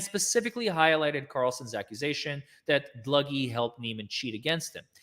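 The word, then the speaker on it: Dlugy: Dluggy. All right. Thank you. I'll try to pronounce it properly from now on.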